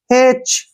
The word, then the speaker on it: hatch: जब भी CH से पहले टी आए तो वहां पर टी साइलेंट कर देंगे। HA का उच्चारण हम अक्सर हे के रूप में करते हैं, हे, ऐसे। ठीक है ना, और टी नहीं पढ़ेंगे, CH का उच्चारण च हो जाएगा।